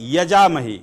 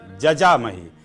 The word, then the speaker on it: जजामहे: और फिर क्या बोलते हैं? यजामहे। यजामहे शब्द नहीं है, जजामहे।